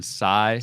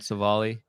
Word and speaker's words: Civale: It is Aaron Civale. Sorry. Yeah. Not Civale.